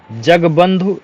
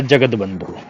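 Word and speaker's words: जगत्बंधु: है जग बंधु या जगत बंधु तो ध्यान रखना जगत बंधु एक शुद्ध शब्द है जगत बंधु ठीक है ध है छोटा उ मात्रा है जगत बंधु य वाला ज बंधु गलत है 36 कैसे लिखा जाता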